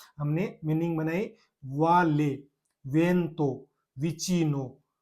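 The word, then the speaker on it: vuoto: उसके बाद में वी आई से एक और बनाऊं तो सबसे simple we I plus T ओ, टी A sorry, विता, विता, विता बोलते हैं जिंदगी को, जिंदगी को विता।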